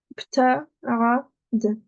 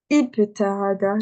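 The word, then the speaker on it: ابتعد: La troisième, là, j'ai pas de harakat, je vais regarder ma troisième lettre. Ma troisième lettre, c'est quoi dessus? C'est une fatha, ok. Du coup, ici, je vais dire ibta'ada, je vais mettre une kasra.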